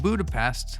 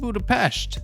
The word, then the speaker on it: Budapest: There's been a lot of chitter chatter about what happened in Budapest, or sorry Natasha, it's pronounced Budapeshhht.